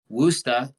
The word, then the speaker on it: Worcester: to tell me that the name of the city was pronounced wusta even though it's spelled w o r c e s t e r I thought it was Worcester yeah and so I